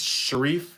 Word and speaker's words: Shreve: Sheriff I get man my name gets butchered it's it's shes Shere like a lot of like like literally Middle Eastern be like oh you're Shar I'm like no no sh not Shar sh either way um let's